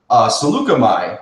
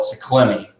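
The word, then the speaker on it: Saleucami: It says, Obi-Wan and Captain Rex's troopers land on the planet Seleucami. I found out that's the pronunciation of it. I used to call it Seekell.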